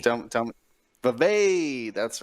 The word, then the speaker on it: Vivek: I was told the pronunciation, and now I already forgot it. Vivek? No, that's not right. Tell me. Vivek.